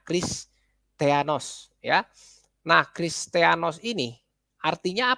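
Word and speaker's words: Χριστιανός: Nah, ini ya Kristianos ya, sebutannya pelafalannya Kristianos ya.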